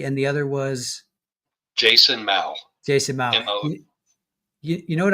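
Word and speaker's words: Mow: It's pronounced mau.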